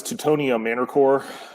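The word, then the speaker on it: Teutonia Männerchor: As far as I know, it's Teutonia Manorcore.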